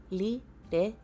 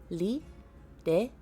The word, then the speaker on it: Lireshie: In that case, you may simply call me Lireshie. It should be easier for you to remember. Let's practice saying my name, shall we? It's pronounced Li-re-shi-ye. Repeat after me. Li-re-shi-ye.